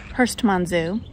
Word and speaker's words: Herstmonceux: now okay so I finally asked how to pronounce the name of the castle and it's Hurst Manzo so I apologize for I think saying it